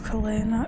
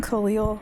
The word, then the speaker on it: Klay: It's Klay. I've been saying Khalil this whole time.